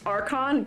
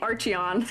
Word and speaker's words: Archon: By the way, it's pronounced Archon. Whoops, I'm pronouncing it Archeon.